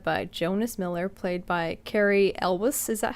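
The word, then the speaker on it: Cary Elwes: who is led by jonas miller played by carrie elvis is that how you pronounce it yes yes that's how that's how i've grown up pronouncing it elvis okay uh who he is in it for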